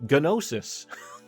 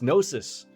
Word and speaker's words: Gnosis: I still feel like we should say it like Gnosis. No, it's Gnosis.